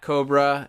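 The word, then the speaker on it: Kobra: terrorist organization of cobra no not that cobra and not the not the one that fights gi joe and no not the cobra spelled with the c that you might be familiar with from the marvel universe no this is cobra with a k liam k-o-b-r-a cobra what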